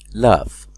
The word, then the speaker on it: laugh: لاف يضحك. طبعا GH هنا تنطق ف.